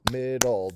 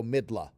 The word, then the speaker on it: middle: two- syllable word midle the accent is on the first syllable midle midle right and notice that the L follows the schah uh sound because that's how you say it you don't go midla all right that's your